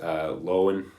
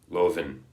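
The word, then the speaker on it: Löwen: it from St Louis lowen it's probably actually how you pronounce his name but uh you know if you want to be correct and speak German Lovin that must be it right anyway um he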